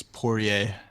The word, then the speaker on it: Poirier: and Vincent Poirier Poirier I don't know how to pronounce his last name I think it's poor yay oh yeah all right